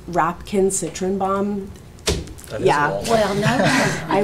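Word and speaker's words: Rapkin-Citrenbaum: It's Rapkin Citrenbaum. That yeah. Well, no. I wouldn't know. No. It's, I can spell it.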